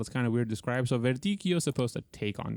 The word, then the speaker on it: Verdicchio: How would I pronounce the grape? I already forgot what the grape was. It's Verdicchio.